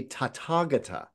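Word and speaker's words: Tathāgata: of those and smashed them together, the correct pronunciation would be tatagata.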